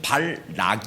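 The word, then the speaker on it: 발락: 아까는 발람이 라고 했죠 이 사람이 이름은 발 락 이에요 좀 발음이 정확하지 않으면 헷갈립니다 선지자는 발람이 랑 선지자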